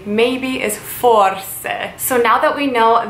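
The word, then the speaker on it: forse: language so how you would say maybe is for say so now that we know the very most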